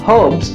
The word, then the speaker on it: herb: been added, because in when it comes to US, this word is pronounced herbs, herbs, herbs, like H is not there, but it is herb, herb, herb.